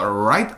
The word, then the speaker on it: right: 이런 거 읽을 때 on the right side 이렇게 L처럼 발음하는 사람들 되게 많은데 I think this picture was taken in a park. On the right side of the 나쁘지 않습니다. on the right R 발음 충분히 끌어다가 발음하고 있죠.